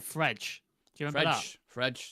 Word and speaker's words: Fred: Is it French? Fredge. That's how you pronounce it.